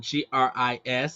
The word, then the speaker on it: Gris: one agree yeah it's it's spelled g-r-i-s so you say Gris but it's a French